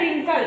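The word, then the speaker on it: wrinkle: and wrist W आर आई ST wrist and रिंकल डब्लू आर आई एन के एल ई रिंकल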